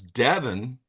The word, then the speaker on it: Devon: Well, up the road from Sen is Devon.